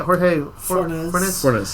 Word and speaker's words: Jorge Fornes: Jorge Fornes, yep.